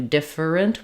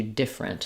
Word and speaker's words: different: Um that's true in like um different. We don't do different. We just do different.